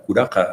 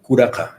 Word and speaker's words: curaca: Curaca Sí. en quechua. ¿Cómo se pronuncia? Curaca.